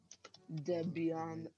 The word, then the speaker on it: Debian: the Stream Mario is turning Debian right now dead Beyond finally someone who pronounces it right finally a worthy opponent Rory